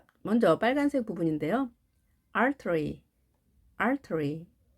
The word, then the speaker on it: artery: T가 양쪽에 몸이 있게 되면 약하게 발음이 됩니다. 그래서 자, 발음 기호 보시면 이 표시가 약하게 발음하라 라는 기호입니다. 그래서 영국식 발음이면 artery 그대로 해주시고 미국식일 때는 artery. T가 좀 더 약하게는 R 발음까지도 하죠. artery. 부드럽게 하시면 되겠습니다. 동맥이 되겠습니다.